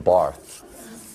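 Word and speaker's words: Barthes: Barth. The S is silent.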